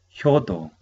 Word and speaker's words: 효도: Pronunciamos hyodo, hyodo, hyodo, hyo, hyodo, hyo, hyodo, hyo.